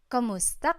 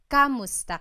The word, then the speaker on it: Kumusta: you in Tagalog, it's Kumusta ka? Kumusta ka? So it's spelled K-U-M, Kumusta ka. But sometimes you might hear some people say Kamusta ka, like it's a K-A sound.